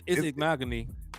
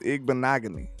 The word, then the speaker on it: Igbinoghene: It's Igbinoghene. It's Igbinoghene. Igbinoghene. Yeah, I know the last part rhymes with mahogany, so it's Igbinoghene, huh?